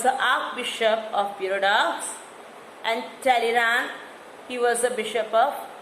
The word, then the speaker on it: Talleyrand: Okay, so in the French, how these words were being pronounced, I am just pronouncing like that.